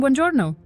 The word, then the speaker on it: buongiorno: Buongiorno, good morning, buongiorno. This means good morning. Notice how we stress the second to last syllable, buongiorno.